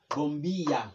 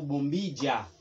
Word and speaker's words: bombilla: Bombija, qui c'est ampoule, ou bien bombilla. Ou ka di bombilla ou bombija, qui c'est ampoule.